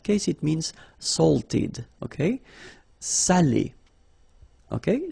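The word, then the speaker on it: salé: because in that case it means salted okay Sally okay say Sayo say Delo okay and then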